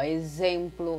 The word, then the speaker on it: exemplo: palavras com X, execrar, a própria palavra exemplo, ó, exemplo, é um som de X que nós escutamos, desculpa, é um som de Z que nós escutamos, mas nós vamos escrever com X.